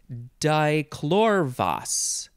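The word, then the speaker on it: dichlorvos: let's just start with that the next word dichlorvas or dichlorvus d i c h l o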